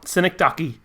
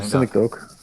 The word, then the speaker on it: Synecdoche: Yeah, Synecdoche. Yeah. I think it's Synecdoche, actually. I actually don't know either. I just want to know. Because it's meant to be like Schenectady is a place in New York.